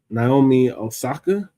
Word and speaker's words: Naomi Osaka: So, the next topic is um um Naomi Osaka.